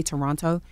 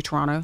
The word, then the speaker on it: Toronto: I always say that like that because I usually say Toronto. And she says I'm not supposed to say it like that. Yeah, you're not supposed Toronto. To pronounce yeah, both yeah. T's, I found out.